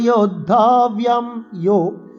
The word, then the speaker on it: योद्धव्यम्: কৈর্ময়া সহ যোদ্ধব্যম, এখানে আমরা দীর্ঘস্বরের টান দেব।